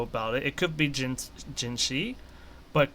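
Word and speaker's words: Jinhsi: It could be Jinshi, but considering her original name is C and Jin was added on to her name, I assume Jinsi is actually the way to pronounce her name.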